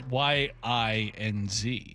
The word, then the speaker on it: yinz: I've been told yins is Pittsburghian for y'all. But then someone told me it's pronounced like Ewins. Well, then where's the OU in that? Yeah. It's YINZ.